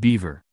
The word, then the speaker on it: Belvoir: they do things differently at Belvoir pronounced beaver the Leicestershire castle which